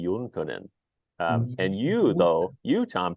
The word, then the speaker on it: Juntunen: uh you you said Jin uh lots of Finnish words get you know Americanized uh my last name pronounced in The Finnish would be yonin and you though you